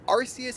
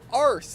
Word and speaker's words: Arceus: they never did that they said nope Arceus is exactly how we're gonna have it pronounced we aren't going to change that and then people overseas started saying oh arse this is this is the buck God booty God and frankly